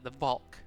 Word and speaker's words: Valk: I think I think it's spelt as its sound, like V-A-L-K.